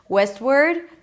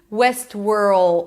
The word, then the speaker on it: Westworld: A lot of times people drop the L and then they say something like word. Westward. That's a different name. Westworld. O. You want to make sure that you hear that dark deep L sound.